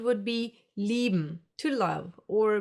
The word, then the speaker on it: lieben: I-E will be pronounced like a long, slow E, like for example in cheese. Another German diphthong. A few more examples for this sound would be lieben, to love, or Bier, beer.